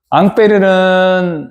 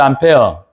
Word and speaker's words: 앙페르: 앙페르는 여러분들이 많이 들어봤을 거예요. 암페어는 많이 들어봤죠? 암페어 영어식 발음이고이 프랑스의 물리학자예요. 그러니까 앙빼르라는 사람의 이름을 따서 조율류의 단위를 뭘 쓴다 그 말이에요?